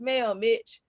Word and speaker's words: Mel Mitch: My Instagram is it's Mel Mitch. Like it's Mel Mitch. Mitch rhymes with bitch.